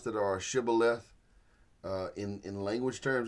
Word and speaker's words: shibboleth: syntax and structure so they would say sybileth to this day to this day that word is in use shibboleth is in use because of this